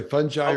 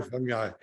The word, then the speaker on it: fungi: Either way, fungi or fungi. Okay, fungi, either way, J or G, either way.